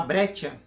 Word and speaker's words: Breccia: Becker eu vou falar brecha porque alguma cerveja fabreca eu vou falar brecha porque eu acho que eu mais próximo da pronúncia aqui parece ser de origem italiana e o que que